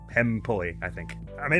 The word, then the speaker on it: Hempuli: Emily, was saying that I believe it's pronounced Hempuli. Or something closer to that than what I have been saying. The developer's name. Hempuli, I think.